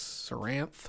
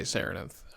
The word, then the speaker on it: Sennarth: perpetually throughout the boss saranth saranith however you want to pronounce I say serenith I read it as saranth so you know we're